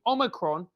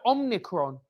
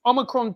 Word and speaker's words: omicron: and fauci and others keep mispronouncing omicron as omnicron can't someone let them